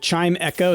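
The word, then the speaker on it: Chimecho: Uh, like a chime. Chime echo.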